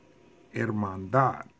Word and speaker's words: hermandad: Hermandad. So the stress or the loudest sound is on the last syllable. We'll say hermandad and go up. Hermandad.